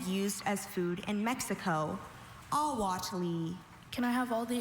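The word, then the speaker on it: ahuatle: Awati. Can I have all the information? Awati is the only pronunciation.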